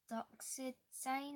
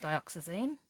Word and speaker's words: Dioxazine: Doxyzine. I can't say it. Dioxazine.